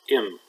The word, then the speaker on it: أم: In Fusha it's pronounced and like many Shaamy words, the Dhamma from Fusha turns into the Kesra in Shaamy, so it's pronounced im.